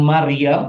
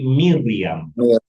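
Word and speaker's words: מרים: Kita sudah belajar kemarin ya, bukan Maryam tapi Miriyam.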